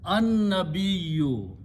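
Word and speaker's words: النبي: This lam is not pronounced, but noon is pronounced twice. An-nabiyyu.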